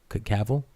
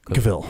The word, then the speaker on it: Cavill: Cavill. Cavill.